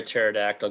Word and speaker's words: pterodactyl: can't you hear a pterodactyl go to the bathroom because it's dead no because the p is silent oh that is